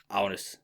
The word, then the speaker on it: Agnes: Her name is Agnes. That's how you pronounce it in Danish.